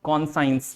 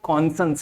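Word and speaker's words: conscience: कॉन्साइंस, but this is नॉट कॉन्साइंस। You know, इसका जो actual या जो जेन्युइन प्रोनाउंसिएशन है वो कॉन्संस है मेरे बच्चे।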